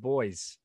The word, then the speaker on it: buoy: instead of b-u-oos no it's spelled the same but we pronounce it boys yeah you people got